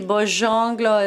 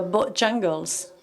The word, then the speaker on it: Bojangles: No sé si los snobs dicen Bojangles y Bojongle es la otra manera de decirlo. Se dice como la gana, ¿cómo se dice? Bueno, yo soy snob, yo digo Bojangles.